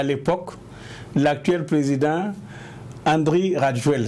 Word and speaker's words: Rajoelina: Donc, il y a eu des conflits avec le maire d'Antananarive à l'époque, l'actuel président Andry Rajoelina. C'est écrit Rajolina, mais on prononce Rajoel.